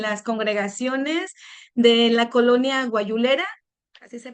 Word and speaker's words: Guayulera: Él ha ejercido el pastorado en las congregaciones de la colonia guayulera, así se pronuncia, hermano, en Saltillo, Coahuila.